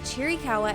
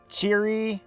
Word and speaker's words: Chiricahua: So today we're setting out to see as much of Chiricahua as possible and decide for ourselves if it has the geographical and cultural significance to earn that coveted title.